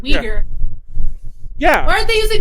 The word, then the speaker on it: Uyghur: Why don't they use that energy towards the I don't know the correct pronunciation. My friend told me it's Uyghur genocide in China. Oh, Uyghur. That's right, Uyghur.